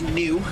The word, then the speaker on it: gnu: Beast wer Beast are sometimes known as New that is spelled gnu they got that name